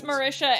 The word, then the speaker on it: Marisha: does Marisha Ray do the D and Beyond pronunciation it's Marisha and oh lucky they get